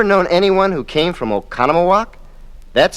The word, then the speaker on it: Oconomowoc: Have you ever known anyone who came from Oconomowoc? That's spelled O-C-O-N-O-M-O-W-O-C.